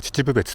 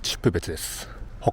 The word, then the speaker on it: 秩父別: Tôi đến từ Saitama nên lúc đầu tôi đọc là "Chichibubetsu", nhưng thực ra nó là "Chippubetsu".